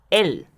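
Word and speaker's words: אל: A continuación de ella está la partícula o nombre de Dios alef lamet pronunciado él que significa Dios o poder.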